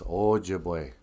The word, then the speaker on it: Ojibwe: eyes here no then the o is like the o in note or in ojibwe quit saying object it's ojibwe hey man you speak